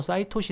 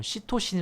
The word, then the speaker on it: 시토신: g 구아닌 a 아데닌 참고로 뭐 싸이 토시 는 어떤 책에서는 뭐 시토신 이라고 뭐 있기도 합니다 뭐 그건 굳이 뭐 영어발음 이니까 뭐 크게 뭐 예 고려할 점은 아닌것 같구요 그런데 마지막 연기가